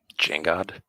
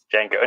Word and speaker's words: Django: The D is silent. Jangod? Django. No, just Django.